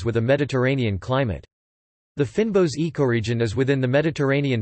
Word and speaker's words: fynbos: fynbos Afrikaans pronunciation phi n BOS meaning fine leaved plants